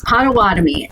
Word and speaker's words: Potawatomi: about the patama I'm gonna say it wrong patawatomi tribe why it's included it's Potawatomi and okay and it's um yeah so so